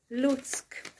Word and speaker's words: Луцьк: western ukraine malnitsky and lutzk and that city pay attention to pronouncing the k at the end lutsk okay now briefly showing